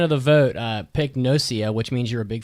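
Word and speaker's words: gnosia: Yeah, I don't think you say the G in that word. So 14% of the vote uh picked Nosia, which means you're a big fat loser.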